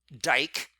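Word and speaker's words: δίκη: so justice though originated in the greek word dyke and that's d-i-k-e if you're wondering how to spell it which is associated with the concept of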